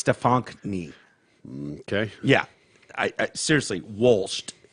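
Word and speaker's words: Stefonknee: And it's Stefankny is how you pronounce that. Stefankny. It's not just Stephanie. There's not the K No. is not silent like a knee. No, Stefan Knie. Okay. Stefan Knee.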